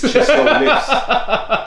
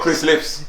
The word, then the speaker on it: ChisoLifts: says ChisoLifts. ChisoLifts. Not Chris. Not Chris Lifts.